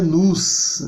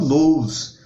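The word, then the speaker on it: νοῦς: a esse vídeo, que a palavra mente se pronuncia nous, não nous, ok? Cuidado aí para não pronunciar errado.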